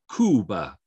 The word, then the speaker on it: Cuba: In English, we pronounce as if it's C-Y, right? Cuba, but no. In Spanish, you know, your C before a vowel, unless it's E and I, is always the same hard C. So Cuba, Cuba.